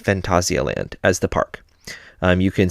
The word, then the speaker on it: Phantasialand: So, as I mentioned in the last episode, Phantasialand, that is how it is said in Germany. That's how the park says it. Now, it does mean Fantasyland, but it's pronounced Phantasialand as the park.